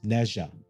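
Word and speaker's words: Nezha: how you do it's how you're supposed to pronounce is nja or nja which in general is a story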